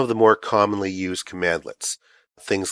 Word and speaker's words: cmdlet: commands that you use so just think of the shortened version cmd as being command and commandlets is how it's pronounced now command let's have